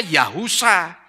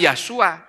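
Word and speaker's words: יהושע: dibaca coba yasua ngawur Yod hewosin Ayin itu dibacanya yahusa bukan yasua kalau mau dibaca yasua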